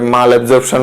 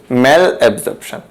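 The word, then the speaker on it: malabsorption: হ্যাঁ, অনেকে ভুল উচ্চারণ করে, মাল অ্যাবজর্পশন বলে, ভুল, ম্যাল অ্যাবজর্পশন।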